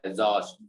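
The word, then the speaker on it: exhaust: जैसे हम इसको पढ़ रहे हैं एग्जॉस्ट, तो ऐसे करके आ रहा है एग्जॉस्ट। ठीक है, पढ़ने में बोलने में ऐसा आ रहा है एग्जॉस्ट, जो से आ रहा है, या फिर इसको तुम जे से भी बोल सकते हो, जो से। और स्पेलिंग क्या है? एक्सहॉस्ट, एक्सहॉस्ट करके है ये, एक्सहॉस्ट।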